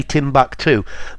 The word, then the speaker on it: Timbuktu: places for Timbuk2 yeah the British say Tim back too but um I've heard